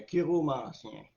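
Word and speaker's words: chiromancie: de la main un kiromancien la kiromancie c'est ça les autres marqu chiro mais ça se prononce Kiro on dit pas un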